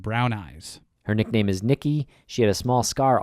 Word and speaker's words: Niqui: She was the youngest of 10 children, and Nikki, that's spelled Niqui, was very close to her parents and siblings.